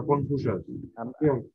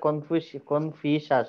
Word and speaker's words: কনফুসিয়াস: আমরা বাংলাদেশে এটাকে কিভাবে উচ্চারণ করি, কনফিউশিয়াস না কনফুসিয়াস? আমরা যেটা কনফিউশিয়াস স্যার শাস হবে সেটা।